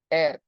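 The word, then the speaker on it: heir: letter H I mean a conern letter it pronunciation will be like a w air the king died without an air seven this Century will be known as the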